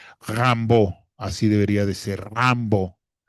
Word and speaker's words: Rimbaud: que es Arthur Rambo, no Arthur Rimbau, sino Arthur Rambó, así es como se pronuncia en francés, porque ya sabemos que las terminaciones en francés, pues bueno, no se no se leen como se escriben, sino que tienen entonces la terminación au no se pronuncia la d, sino es Rambo, así debería de ser,